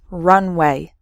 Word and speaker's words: runway: speed before taking off so the first word has three syllables run away and the second word has just two syllables Runway completely different meanings okay